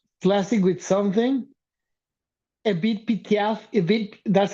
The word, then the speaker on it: Edith: Edith, that's how you pronounce it.